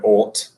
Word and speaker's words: ought: Let me think of another word like bought, fought. Another word that finishes with, well, I mean, there's the word ought. I ought to, como debería de, ought. Se escucha igual.